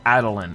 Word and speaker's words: Attilan: of adilyn in jeopardy okay so adilyn is how you pronounce sorry such recklessness is